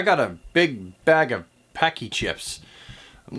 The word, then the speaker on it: Paqui: That's pronounced Paqui chips. My mistake. Paqui chips.